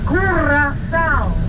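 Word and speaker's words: Curaçao: Curacao. That's the way you pronounce the name of this island.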